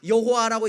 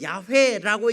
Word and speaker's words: 야훼: 그래서 많은 학자들이 여호와라고 읽는 게 틀리다, 조금 더 맞는 건 야훼라고 읽는 게 맞다라고 해서, 여러분 공동번역 성경이나